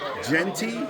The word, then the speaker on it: Jeanty: How do you How do you say your last name? Jeanty. Jeanty. Like G T.